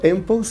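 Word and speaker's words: mpox: Qué significa enox bueno empo viene la palabra eh m de Monkey y pox de viruela eh Son palabras en inglés y como en inglés la m se pronuncia m verdad Entonces es empo eh resulta que la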